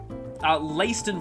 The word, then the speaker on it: Leiston: Ringleader taken to Leiston Fortress, I believe is how it's actually pronounced.